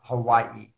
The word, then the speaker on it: Hawaii: common vacation destinations is Hawaii. As your pronunciation is good as it. There is a glottal stop there, Hawaii.